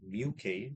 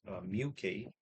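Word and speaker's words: μk: is what we call mu k. So it's pronounced as mu k mu which is a Greek letter mu k okay that's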